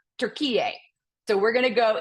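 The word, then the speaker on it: Türkiye: capid doia and um a lot of folks say turkey but they are going back to um how it should be pronounced and that is tur PA so we're going to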